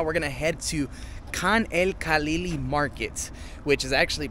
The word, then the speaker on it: Khan El-Khalili: And right now, we're going to head to Khan El-Khalili Market, which is actually pronounced Khan El-Khalili.